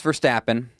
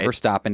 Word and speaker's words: Verstappen: Max Verstappen, or Verstappen, depending on how you want to pronounce it.